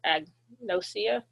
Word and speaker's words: agnosia: So, agnosia. So, if you have a um, prefix in front of it, then the G has a sound. Otherwise, the G can be silent.